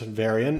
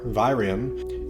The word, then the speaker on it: virion: Virion, pronounced varian or virium, is the infectious form